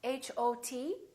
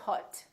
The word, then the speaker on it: hot: example the word hot h-o-t we don't say hot we say hot it's pronounced exactly as the ah in the words father or army or watch so the O and